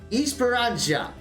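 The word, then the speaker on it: Esperança: is going to be push okay I completely mispronounced that Esperanza okay that's how you do it too much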